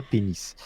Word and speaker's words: PEN15: Donc le la série s'écrit Pen 15 en fait, mais le logo de la série ne laisse aucun doute quant au jeu de mots qui qui fait que l'on peut le prononcer, on peut prononcer ça pénis.